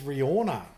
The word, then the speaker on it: Rihanna: So Skydelize says Riona. Riona. Oh, they got different pronunciations here. So Skydelize says Riona. Gutcha says Riona. And neither of them are pronouncing the H. Thank you very much. H is silent.